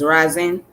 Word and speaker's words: Reason: today i am going to focus on charles rising so his last name is pronounced as ryzen okay uh he was of a haitian descent